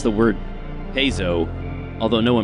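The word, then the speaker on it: Paizo: interesting side note you correctly pronounce the word pzo although no pronounces it that way pzo is the Greek word for I play and that's the correct pronunciation in modern Greek everyone says piso for some reason oh what can I say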